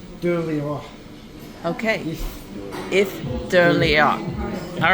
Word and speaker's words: Eilean: How do you pronounce the restaurant's name? Eilean.